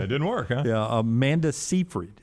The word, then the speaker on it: Seyfried: Yeah, Amanda Seyfried is how you say her name? Yeah.